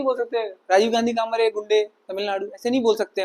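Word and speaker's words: Guindy: उसके सामने नहीं बोल सकते राजीव गांधी काम गुंडे तमिलनाडु ऐसे नहीं बोल सकते वहां पर तो वो लोग इसको कैसे प्रोनाउंस करते हैं मेरे सर भी करते थे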